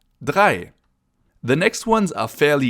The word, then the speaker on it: drei: And the next one sounds pretty similar. It's drei, 3, drei. So zwei means 2 and drei with a DR means 3, drei.